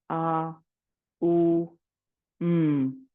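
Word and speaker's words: AUM: Prana or G today we will split the M into three syllables a u m we will chat each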